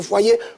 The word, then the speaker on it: foyer: Pour dire qu'il faut être concentré dans le foyer, comme le dit Copina, on reste concentré. Et foyer a 2 syllabes. Foi et l'onomatopée yé.